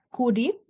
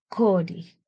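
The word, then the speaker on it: quri: Ahora tenemos otro ejemplo, kuri, en escritura, que significa oro. También vemos que la Q simple está antes ante una vocal, que es la U. Y en pronunciación, la U se convierte en O. Y entonces la pronunciación en aymara sería kori, que es oro.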